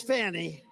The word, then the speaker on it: Fani: Now, even though I believe it's spelled F-A-N-I, to my way of thinking, that's Fanny. But once she became the district attorney, I think she put a little emphasis on the U.